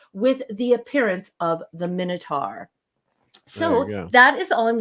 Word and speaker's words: Minotaur: It's Minotaur, isn't it? Yeah. And what's worse is the old hag. They call it a Minotaur? No, they pronounce it Minotun.